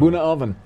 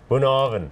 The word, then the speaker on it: Bunnahabhain: Bunnahabhain. Bunnahabhain. Yes. In Islay. You don't spell it anything like that. No, it's Gaelic word.